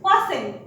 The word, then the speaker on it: fasten: तरफ, जो है टी, साइलेंट टी को पढ़ते हैं हम। यहाँ पर वर्ड आया FASTEN, फास्टेन, not, that is called not फास्टेन, इट इज फास्टेन।